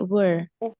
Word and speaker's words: were: were very oke oke Bacanya jangan where ya tapi were Heeh lidahnya lebih ditekuk Oke kalau where nanti jadinya di mana begitu ya kalau ini